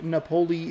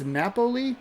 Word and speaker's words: Napoli: I think it's I pronounced I pronounced his name wrong the entire time. Mike I think it's Napoli, I want to say. I think that's the correct way to phrase it.